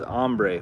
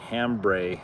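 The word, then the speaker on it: hambre: So it and if we pronounced it in English it would be hamre or something like that but they don't pronounce the h if it's at the beginning of a word.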